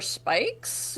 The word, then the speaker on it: Spikes: For Spikes, with the S is silent? No, that's his A first injury injury for Spikes, and yes, it's silent.